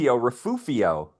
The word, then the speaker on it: Refugio: That's like people around here, especially old timers around Santa Barbara, have a tendency called refugio. Yeah, But it's not an F sound, it's an H sound.